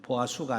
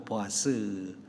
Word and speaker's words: 보아스: 이름이야 김과 보았었는데 에 보아 수가 아니고 보아스 그렇게 발음 되는데요 그 기둥 이야기니 뜻이